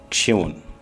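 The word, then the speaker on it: שמעון: وسيمون في العبرية ينطق شيمون، وربما في الآرامية شمعون، وكذلك في العبرية شمعون على ما أظن.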